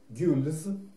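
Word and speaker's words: gules: Серебро – это аржан, золото – ор, черный цвет – сабль, синий цвет – азюр, красный цвет – гюльз, ну это английское произношение, по-французски, наверное, правильнее – гюль, зеленый – вер, вернее, по-французски это вер, а по-английски его произносят как верт.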